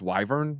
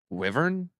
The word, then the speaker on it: wyvern: not the Liars yeah I pronounce wyvern wrong wyvern no it's wyvern wyvern yeah all right yeah anyways